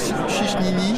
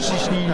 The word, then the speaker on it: Ciśnienie: qui s'appelle Sisnier. Alors, Chichnini. Chichnini. Alors, putain, l'accent polonais.